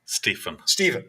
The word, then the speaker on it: Stephen: Stephen. Stephen, with that F sound. Okay. Yes. PH. There you go. For you. Like phone. Like As phone. opposed to acidic.